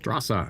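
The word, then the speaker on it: Straße: Strasa is pronounced Strasa and basically the German equivalent of street."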